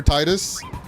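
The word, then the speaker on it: Tidus: It's Tetus like a like a Tai, not T. I mean, you could say Tetus or Titus. I mean, the voice actor has mentioned that it is pronounced Tetus, but like I won't yuck anyone's.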